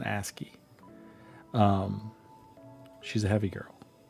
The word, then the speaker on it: ASCII: Sorry, it's an asy. I always have to I always say it wrong. It's an asky.